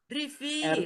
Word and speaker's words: rivier: Ini rivier. River. Rivier. R-I-V-I-E-R. Bacanya rivier. Nah, sekarang ada.